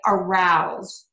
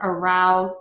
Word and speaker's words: arouse: So if you see a verb that's spelled with S-E, like arouse, appease, mm-hmm. choose, those are all going to be pronounced with a Z.